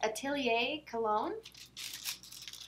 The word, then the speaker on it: Atelier Cologne: box little pouches so the crinkly thing is Atelier cologne that's how you pronounce it comes all wrapped up and it